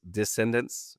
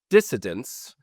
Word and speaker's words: dissident: There was a lot of d descendants. Descendants, that's not right. Dissident is how you say that.